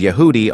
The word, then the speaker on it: Yehudi: While Jew, pronounced as Yehudi, are Yod, He, Waw, Dalet, and Yod.